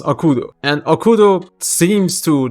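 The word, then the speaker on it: 悪童: why the kanji that has been reading is pronounced akudo and okudo seems to like commonly refers to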